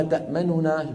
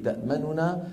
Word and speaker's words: تأمننا: الوجه الثاني الإشمام، وذلك بتسكين النون الأولى وإدغامها في الثانية مع ضم الشفتين من غير صوت بعيد البدء بنطق النون المدغمة. بعيد يعني بعد على طول، بعدها على طول بعيد النطق بالنون ومقارنا للغنة المطولة كما شرحته لكم الآن وكما لفظته ولفظتمه.